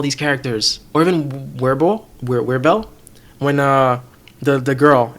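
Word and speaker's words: Wirbel: with the is it webell how do you pronounce his name Christian yeah it's webell webell worble yeah like I like how they're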